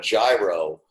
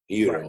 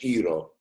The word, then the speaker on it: gyro: What it looks like is gyro, but it's like the G isn't pronounced with the J. It's like more like an H, gyro, right. Or right. E or an H, gyro.